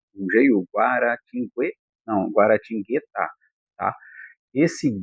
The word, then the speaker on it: Guaratinguetá: Nesse caso, a guara tingu guarating não, guaratingá.